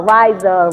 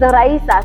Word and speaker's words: Raisa: was just like, well, nobody ever knows how to say my name right. It's like Raisa, Riza, Riza, and it's like my name is Raisa.